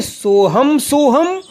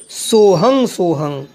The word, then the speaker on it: सोहम: पहली हो गई सोहम सोहम और दूसरी हो गई सोहं सोहं। तो इसमें किसी प्रकार की शंका न करें। आपके गुरु के द्वारा जो भी आपको उपदेश दिया गया है, या तो सोहम सोहम दिया होगा, सोहम सोहम सोहम, या दिया होगा सोहं सोहं सोहं, उसी प्रकार आपको जप करना है। दोनों ही सही हैं, मगर गुरु मुख से